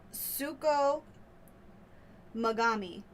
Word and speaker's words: Tsukumogami: Okay, so let me try to pronounce this as well as I can. Suko origami, did you say? No, Suko Magami.